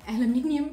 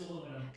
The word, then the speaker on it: aluminum: became hunted by an aluminium can of mountain water. Hunted? Yes, it is hunted. Hunted by an aluminium. Is it aluminum? Aluminum. How do you say that? In America, it's aluminum. Aluminum can of mountain water